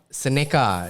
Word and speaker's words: Seneca: And then the next project, please pronounce it as Seneca.